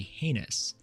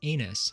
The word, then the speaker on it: heinous: A slow or weak recruit is said to be heinous, which many recruits and in fact drill instructors have misheard and will continue to mispronounce as anus for their entire career.